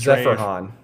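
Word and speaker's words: Zeferjahn: And it's Ze fra han.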